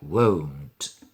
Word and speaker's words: won't: se queda más breve, sería won't. Pronunciado así, ¿vale? Won't. Fijaos que el verbo querer, que algunos pensáis que suena igual, sería won't, con una O solo, y aquí es won't, con un diptongo, ¿vale?